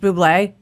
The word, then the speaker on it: Bublé: Because their last name, is your character's last name pronounced Bublé?